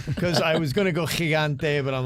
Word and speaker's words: Gigante: lesson for you Kev when you say Gigante don't say the g like GI Joe say it like my name uh yeah you know